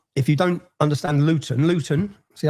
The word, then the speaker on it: Luton: Luton. See, I pronounced my tea there. We don't pronounce our te's. I've done that for you. How do you say that? Luton.